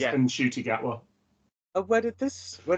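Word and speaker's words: Ncuti Gatwa: and then said no his mom rang him up said oh it's unshy yeah so he's been saying his name wrong as of we but his name is and shoy gatwa and where did this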